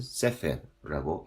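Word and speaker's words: ספר: 바로 그 사이에 에를 이렇게 넣어주라고 하는 얘기입니다. 그러면은 세페르라고 읽습니다.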